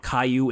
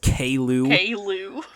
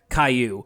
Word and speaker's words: Caillou: i think you have a default way from what i can tell that goanimate pronounces his name is not caillou it's kaylu and so there was